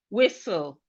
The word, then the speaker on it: whistle: We have whistle. Whistle. Whistle. The T in whistle is silent.